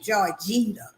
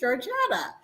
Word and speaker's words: Georgetta: like they don't know how to pronounce my name Georgina you know my name is Georgetta you know Geo for